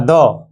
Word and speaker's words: the: তাহলে কিটার উচ্চারণ হবে কি আছে না না দ উচ্চারণ করতে হবে তাহলে এখানে দেখে নিতে হবে প্রথমে